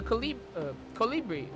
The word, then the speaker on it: colibri: That just leaves the matter of the colibri. Yeah, colibri. Colibri is how you say it.